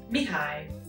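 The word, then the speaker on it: Mihály: spell it yeah um in hungarian it's mihai so if you see it written down it looks very similar it's just the the way we pronounce it because there's no ch connection of the k sound in it it sounds very different but if you see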